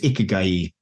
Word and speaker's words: Ikigai: The word is Ikigai, so I'll probably mispronounce that for the rest of this podcast, but that was how his Japanese friends sort of told me this morning.